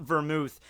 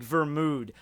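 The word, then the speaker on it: Vermoud: based off of but it's not vermouth it's like ver mood but then in some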